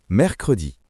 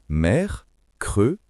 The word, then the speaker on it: mercredi: 3e jour, mercredi. Attention à la prononciation. Mercredi.